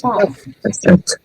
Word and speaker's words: passed: Passed. Passed. Passed. One syllable.